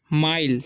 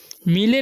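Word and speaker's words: mile: Extra माइल, ठीक है, मिले नहीं पढ़ना है। देखिए लास्ट में ई है ना, और सेकंड में आई है, तो आई का उच्चारण आई हो जाएगा, ठीक है, और ई का साइलेंट हो जाएगा, तो माइल पढ़ेंगे, टू से, ठीक है,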